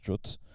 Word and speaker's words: JWT: jot donc JWT mais d'après la RFC ça se prononce jot n'est pas des hoigan